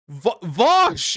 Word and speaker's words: Vaush: It's Vaush. It's not in what language is the VAUSH noise pronounced with an ow?